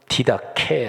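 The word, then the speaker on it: διδαχή: 가르침 이라는 단어가 나옵니다 힐라 5도 말하면 디다 캐 라고 발음하는 데 일단 기독교 신앙에서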